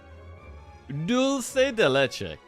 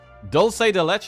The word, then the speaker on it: dulce de leche: That's how you say it. That was pretty much right. Dulki Delei. Bro, I've got the Spanish the Spanish woman telling me how to pronounce it here. Dulce de leche. That's what she says.